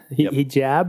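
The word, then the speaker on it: حجاب: Hijab or hijab? Hijab is how you say it with an Arabic accent.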